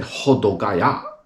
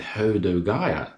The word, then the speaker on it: Hodogaya: So I would listen, they say Hodogaya, rather than Hodogaya. The O is a different ho rather than ho, do rather than do, gai rather than gai, ya.